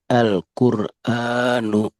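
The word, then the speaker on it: القرآن: Alla aha alahadu alwadudu alqur alqura alquranu al alhadi n algho cukup ee nanti perhatikan hati-hati jangan ada jeda Alquranu. Jadi lamnya habis langsung ke qof. Alquan jangan ada spasi. Alquranu.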